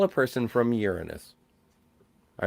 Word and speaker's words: Uranus: Yeah, but can you get to Uranus? Oh, had to do it. Someone had to bring it up. You know that kids are taught to pronounce it Uranus these days.